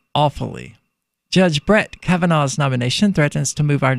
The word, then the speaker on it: Kavanaugh: Trump nominated judge Brett how's that last name pronounced Tom Cavanaugh Cavanaugh saying that freaking Washington Times needs an